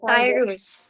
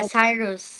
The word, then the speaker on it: Cyrus: And by the way, what's the correct pronunciation of your project? It's Cyrus. Yeah, Cyrus.